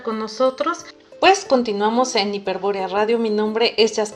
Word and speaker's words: Hiperbórea: así no se encuentran recuerden que hiperbórea van con acento en lado entonces para que nos